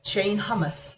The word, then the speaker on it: Hummus: Shane hummus. Like the hummus you eat on a cracker.